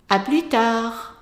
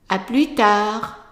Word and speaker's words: tard: À plus tard. And notice where I'm putting the stress. À plus tard. So, tard. À plus tard. Very good.